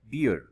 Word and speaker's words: bear: word है वह है बियर बी ई ए आर बियर नहीं ये है बेयर